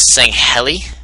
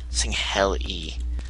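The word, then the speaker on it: Sangheili: elites also known as saying heli I've I've always pronounced it that I don't know how else you can pronounce it but it's s a n g h e l i saying Hell e feel like there's another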